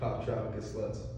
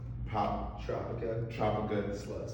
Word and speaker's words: Poptropicaslutz: Poptropicaslutz. Poptropicaslutz.